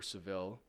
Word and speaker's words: Sevilla: I had to visit Sevilla, or Seville, as they pronounce it here.